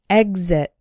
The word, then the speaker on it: exit: strong one exit but we still pronounce the X like G exit this word appears to